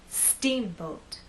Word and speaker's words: steamboat: say Steamboat I want the first part to be loud and the second part to be softer let's try that Steamboat now we also need